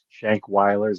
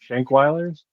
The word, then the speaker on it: Shankweilers: That drive-in theater, Shankers, if I'm pronouncing it right. What's it called? Shank. Shankweilers.